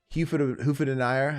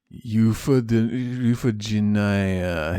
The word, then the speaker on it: Euphegenia: How do you even pronounce Hufadeniya? How do you say her name? Hufadeniya Doubtfire. What is her fucking name? Euphegenia.